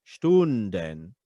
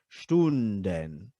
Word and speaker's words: Stunden: And then Stunden, okay? I tend to do the ending consonants or the ending syllables there with an open air, Stunden, because it keeps it up instead of going Stunden, okay?